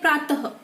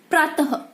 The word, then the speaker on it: प्रातः: इसका उच्चारण हम कैसे करते हैं? प्रातः। हमें इसका उच्चारण क्या करना है? ह। कैसे करना है? ह। इसे हम क्या कहेंगे? प्रातः।